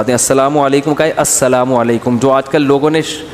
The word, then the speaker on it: السلام علیکم: میرے بھائی کا السلام علیکم اور صلی اللہ علیہ وسلم کا صحیح تلفظ بتا دیں. السلام علیکم کا ہے السلام علیکم, جو آج کل لوگوں نے ساشے پیش کر